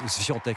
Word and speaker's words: Świątek: Alors la joueuse polonaise, elle prononce en fait Świątek, je précise, a disposé hier en 2 petits sets de la brésilienne Béatrice Haddad Maia.